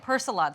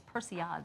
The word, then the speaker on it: persillade: of my all-time favorite sauces and i've been pronouncing it wrong for many years i've been calling it personality sauce but actually it's persian sauce much more fancy that way yes but